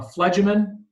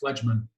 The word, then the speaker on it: phlegmon: This is a phlegemin. Phlegmon. I always add a syllable in there. Phlegmon.